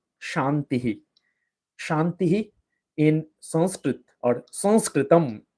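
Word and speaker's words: संस्कृतम्: Shantihi in Sanskrit or Sanskritam. Sanskrit in Sanskrit, how it's said is Sanskritam.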